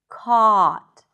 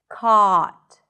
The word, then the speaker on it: caught: Caught. Drop your jaw. Keep the sound consistent. Caught. Caught. Not coat. This is coat.